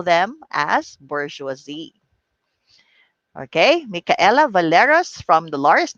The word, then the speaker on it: bourgeoisie: all right even before but the pronunciation of this is bourgeoisie that is right bourgeoisie so it is a